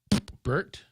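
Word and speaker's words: Pbert: Lori P-B-E-R-T, Burt. I'm sure the P is silent.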